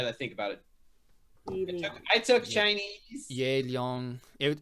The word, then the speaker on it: Yi Liang: You pronounce it Yi Liang.